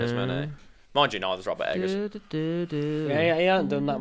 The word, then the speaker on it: Robert Eggers: Is it Robert Eggers?